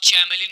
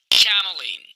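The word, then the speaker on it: chameleon: दोस्तों इस वर्ड को आप चैमलिन नहीं कहेंगे बल्कि आप ऐसे बोलेंगे Cameline, Cameline.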